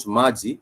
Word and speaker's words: maji: About maji, which is M-A-J-I, it has that ma and g component in it. So ma has the syllable a, vowel a, and then the syllable g has that e, the vowel e, on that particular word as well.